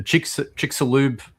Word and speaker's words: Chicxulub: I always get this pronunciation wrong. The Chicxulub.